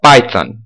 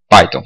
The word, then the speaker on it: Python: Se você for pegar o pé da letra aqui, né, do inglês, tem esse TH aqui, então a gente teria que pronunciar Python, né, para pronunciar corretamente, mas para a gente não ser, enfim, para a gente poder se entender melhor, tipicamente no Brasil a gente fala isso Python mesmo. Então, ok.